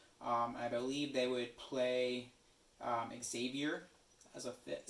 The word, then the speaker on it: Xavier: But I could see why you would say it like that. Yeah, but come on, Xavier fans. There's no Z in there.